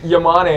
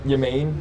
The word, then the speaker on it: Yam: Last name's Yam. They said yain.